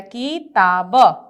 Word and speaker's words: किताब: फिर है क में छोटी ई की मात्रा किताब, किताब, क्या बोलेंगे किताब। जल्दी से उच्चारण करते हैं, छोटी ई की मात्रा है तो उसका उच्चारण समय थोड़ा कम होता है बड़ी ई की अपेक्षा, ठीक ना।